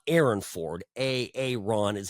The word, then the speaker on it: Aaron: making fun of him that is how he asks people to pronounce his name it's a little weird anyway so a Aon versus Joe Lombardo looking